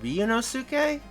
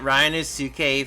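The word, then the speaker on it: Ryunosuke: never would have happened hate to be that guy by the way but I think it's pronounced ryonosuke sorry I'm very stingy about Japanese name pronunciations that's what anime does to you well I've been pronouncing it Ryan is tsuke for like literally months now so I think I'm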